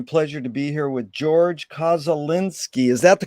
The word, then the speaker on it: Georg Koszulinski: It's an honor and a pleasure to be here with Georg Koszulinski. Is that the correct way to pronunciate it?